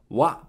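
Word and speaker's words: わ: Wa, wa is pronounced like wa in wasabi.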